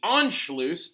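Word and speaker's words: Anschluss: alone but in an event known as the enlo by the way Ono is spelled a NS c h l u SS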